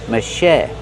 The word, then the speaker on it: machete: Put the stress on the second syllable and make the vowel e like red in bed. Machete. Machete. And the t is a fast e because it's between vowels. Machete.